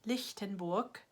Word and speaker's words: Lichtenberg: 39 is liftin Bork Lichtenberg and there's that's a K sound at the end lick Lichtenberg and then 40 is